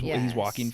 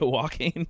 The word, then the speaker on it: Joaquin: Yeah, he's Joaquin Phoenix's brother. So he was like one of those younger stars. I was gonna say his name, but I would have butchered it. Well, yeah, Joaquin, like, yeah, it's spelt Joanne, weird as well.